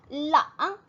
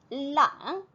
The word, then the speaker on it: 冷: 네, 그에 반해서 춥다. 冷. 네, 혀끝이 치아, 위치아와 위치아 뒤쪽에 오돌토돌한 부분, 그 부분을 터치하면서 나는 소리이지요. 冷.